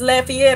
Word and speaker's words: Lafayette: spelled the same as Lafayette I was like hey not y'all not pronouncing it right its Lafayette you know being a